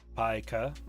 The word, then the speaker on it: pica: And how is PICA, the disorder, pronounced? Kunstgibble? Yeah, I was just having fun with it. Like FICA? Mm-hmm. Pikachu? Yep, nailed it. Pika.